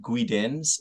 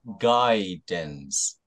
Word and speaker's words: guidance: And then the second one, it's not guidance, but guidance.